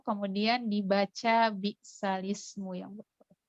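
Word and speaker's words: بِئْسَ الِاسْمُ: Jadi di Al-Quran kita bacanya bi'salis gitu ya, bukan bi'sal ismu. Karena harokatnya sudah dipindahkan ke huruf lam.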